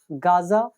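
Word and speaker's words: Gaza: लेकिन ये जो जेड लिखा है इसको ज प्रोनाउंस करते हैं। ये तो होता है ज, और इसके अगर नीचे बिंदु लगा दी जाए तो इसको बोलते हैं ज।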